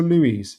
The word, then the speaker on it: Luiz: Do I keep on getting his red name wrong? Is it Ruiz or Luiz?